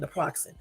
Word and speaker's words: naproxen: That's how you say it, naproxen.